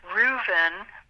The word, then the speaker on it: Reuven: We have a friend, his name is Reuven. It's like Reuben with a V.